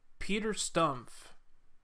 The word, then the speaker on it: Peter Stumpp: our Stubbe our bouquet Peter Stumpp that's how you say his name German I guess for many years the